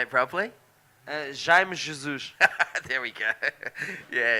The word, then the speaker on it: Jaime: You can see Tristan Roberts from South Africa in the red singlet, and I call him Jamie Jesus, but how do you say it properly? Jaime Jesus.